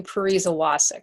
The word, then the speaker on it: Pariza Wacek: talking about this it's Parisa Wasik so for all of you wondering how to pronounce that that's how you pronounce it yes thank you thank